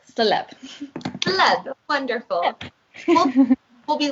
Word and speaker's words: Célèbre: it would sound like Célèbre. So if you're trying to think of how to actually spell it, so it's Celebre. Perfect. But it's pronounced Célèbre.